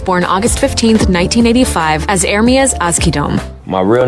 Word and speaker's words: Ermias: Nipsey Hussle was born August 15th, 1985, as Ermias Azkidom. My real name, it means God will rise. It's Ermias, though. That's how you say it. Oh, that's how you say Ermias?